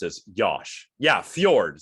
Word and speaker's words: fjord: Yeah, Fjord. See, it's Fjord, not Fjord. I remember.